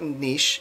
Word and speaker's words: niche: connected but it's pronounced niche it rhymes with quiche it does not rhyme with rich like the word niche